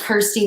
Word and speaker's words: Kirstie: So this is my main link, but everything is under Kirstie, and it's pronounced Kirstie like curve, Kirstie, and, not like Alison Krauss, just without the S.